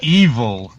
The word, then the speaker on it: Evol: only vegan but it's it's love backwards spelled Evo L and it's phonetically evil like it's really it's